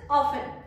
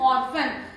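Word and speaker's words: often: देते हैं that is ऑर्फन लेकिन ऑर्फन नहीं होता दैट इज ऑफेन क्योंकि आर को आपको साइलेंट रखना पड़ता है आर के बाद जब भी कॉन्सोनेंट साउंड आएगी आर भी साइलेंट हो जाएगा तो समझेंगे लेकिन ये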